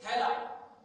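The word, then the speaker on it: Heli: And one says it's Hela. H-E-L-I. That's one of the ways it is pronounced.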